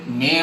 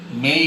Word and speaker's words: may: এই am, এই ওয়াই আমাদের উপমহাদেশে এটাকে মেয়ে বলে আমরা জানি। আসলে মেই হবে, শব্দটা এরকম হবে, শেষে ই সাউন্ডটা আমরা একটু ছোট করে হলেও বলবো, তাহলে সঠিক উচ্চারণ হবে মেই, মেই, মাই, মাস্ট, মেই,